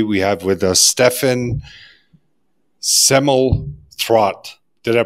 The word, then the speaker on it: Semmelroth: Today we have with us Stephen Semmelroth. Did I pronounce it correctly?